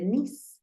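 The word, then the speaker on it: niece: cómo se dice sobrina listo sobrina se dice nis nis así se dice sobrina nis se escribe niese pero se pronuncia nis Recuerda que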